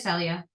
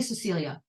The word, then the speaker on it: Celia: am in America but for some reason everyone called me Cecilia I don't understand why they're adding an extra syllable to my name it makes it harder